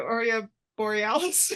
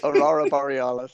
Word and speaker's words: Aurora Borealis: well, How do you say it? The Oreo Borealis? Aurora Borealis, yeah, the Northern Aurora Lights.